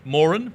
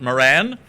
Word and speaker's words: Moran: official opening of the more'n contemporary photographic prize exhibition 2019 and as I do every year I should remind everybody that the family name is pronounced more'n not Moran so this is the